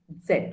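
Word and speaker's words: ß: is new to german is uh called as set and as i said it looks like a beta symbol okay and it's pronounced as s set okay and basically when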